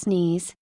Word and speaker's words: Nice: reject the maastricht treaty the nice pronounced sneeze treaty to reject the